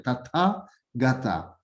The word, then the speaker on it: Tathagata: Yeah, actually, Dishin Shekpa in Tathagata, it's in Sanskrit. We can see 3 syllables. Tatha, so 4 syllables. Sorry, Tathagata. Same as like in Tibetan, you can see the 4 words there. De Shin Shekpa. The 4 words there. In Sanskrit, 4 syllables there. That's the 4. You can think 4, not just 2 and 3.